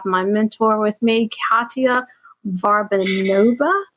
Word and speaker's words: Varbanova: mentor with me, Katya Varbanova. Is that how you say it? I always struggle saying your last name. That is exactly how you say my name, girl.